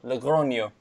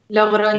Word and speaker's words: Logroño: I think is architecture I won't try and pronounce it. I will. Logroño. Logroño.